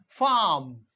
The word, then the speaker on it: farm: यानी ये जो आर है ये हम प्रोनाउंस नहीं कर रहे हैं, ARM आर्म। और इसी तरह से FARM फार्म, फार्म, फार्म।